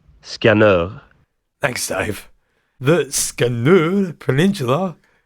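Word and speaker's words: Skanör: We asked Dave, obviously, who's Swedish, to pronounce it, and he gave us this response. Skanur.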